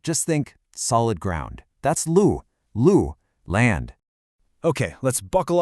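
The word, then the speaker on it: 陆: Lu, and we say it lu. It's a nice, sharp, falling tone.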